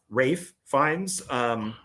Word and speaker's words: Ralph Fiennes: No, because he fights Rafe Fiennes. I still say his name is Ralph. Yeah, and that's everybody says Ralph, but he said Ralph Fiennes says that his dad calls him Ralph or Rafe. Yeah, something like that.